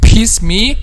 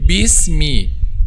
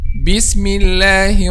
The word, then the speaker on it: bismillah: when pronouncing little bit so don't say piss me but say beast me bismillah man this is